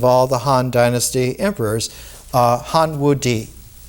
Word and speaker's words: Han Wudi: the Han Dynasty emperors, Han Wudi. Ti is pronounced D in Chinese. Han, the dynasty, Wu, Han Wudi, reigned for 55 years.